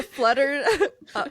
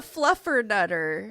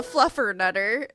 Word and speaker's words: fluffernutter: It is a flutter. Oh, it's a fluffern nutter. Oh, stupid. Obviously, it's called a fluffern nutter because fluff. I knew I was saying it wrong.